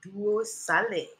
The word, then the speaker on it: Duos: dari Sulawesi Tengah namanya Duos bukan nama promo di sebuah pusat perbelanjaan bacanya pakai bahasa Indonesia ya bukan pakai bahasa Inggris merupakan nama dari sejenis